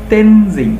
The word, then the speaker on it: Tenzing: তো এটা Edmund Hillary and তেনজিং। দেখো এখানে কিন্তু টিইএন, এই যে টেন, এটা কিন্তু আমরা ট বলবো না, আমরা বলবো ত, ত উচ্চারণ হবে। তেন, টিটা বড় হাতের হবে অবশ্যই, যেহেতু নাম তেনজিং, জিং, তেনজিং নোরগে।